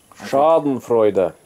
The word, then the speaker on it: Schadenfreude: The Germans call it Schadenfreude. It's when you get really, really happy because someone else is doing really, really bad. It's the only true source of joy. Schadenfreude.